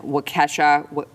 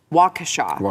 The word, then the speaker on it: Waukesha: after a man in wachesha waukesha that's how you say it waukesha wisconsin ran over